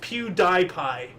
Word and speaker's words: PewDiePie: It's actually if you if you say it phonetically, it's pew die pie.